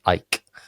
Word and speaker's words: Eich: EICH, pronounced Ike.